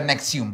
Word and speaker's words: NXIVM: Ajá, pero se pronuncia Nexium.